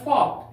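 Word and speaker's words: folk: एफ ओ एल के फॉक का अर्थ होता है देहाती लोग देहाती लोग जैसे फॉक सॉन्ग लोकगीत ये फॉक है के के पहले एल आया है इस एल का उच्चारण नहीं करेंगे अंत में हम लोग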